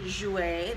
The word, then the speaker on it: Jouer: So I'm super excited because today I am doing a look using the new Jouer. There you go, there's the pronunciation.